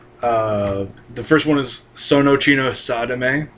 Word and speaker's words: Sadame: The first one is Sonochino Sadame, which that's spelled S-A-D-A-M-E, for those of you who might not know. That is an actual Japanese word. And you might have thought I said sodomy.